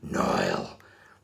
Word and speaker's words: Nile: You got to say Nile.